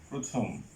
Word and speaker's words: প্রথম: যেমন প্রথম, এখানে প এর সাথে একটা রফলা আছে, এই কারণে এটার উচ্চারণটা হবে প্রথম।